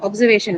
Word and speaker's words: observation: Uh, observation. Next one. Observation. Second. What is second? Don't tell me second. Please tell me the syllable. Way. Right. Way is what will carry the stress.